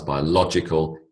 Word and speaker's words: biological: these words into pairs notice the shift in emphasis when I build the word the emphasis changes biology becomes biological history becomes historic submarine becomes Submariner all right